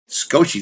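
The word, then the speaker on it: 少し: So Sano son I said bonus big house today maybe satoshi bonus don't you don't pronounce the first uh vowel sound that's a little lesson in Japanese for you thank you sir scoshi that's why asuka is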